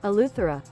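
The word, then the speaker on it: Eleuthera: I'm going to be all over the place all these pronunciations today. Oh, there you go. Aluther.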